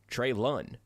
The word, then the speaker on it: Treylon: okay on treylin burke's oh boy treylon trey lund l-u-h-n he has the pronunciations in here too folks treylin burks was